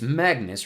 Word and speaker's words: Magnus: No, it's Magnus rhymes with swagness.